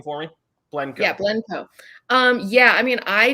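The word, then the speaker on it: Blencowe: the year as well against arlene blend uh pronounced last name for me yeah blenco um yeah i mean i do i know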